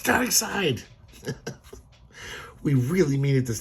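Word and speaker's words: Darkseid: My whole childhood I pronounced Dark Seed until I saw like the Super Friends cartoons. I was like, "Oh, it's a dark side.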